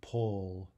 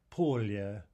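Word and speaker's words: поле: for field and say pull or something right if we transcribe this English letters we would get pol II poll right but the Russian is poor Lea poor yeah two syllables two vowels two syllables next C if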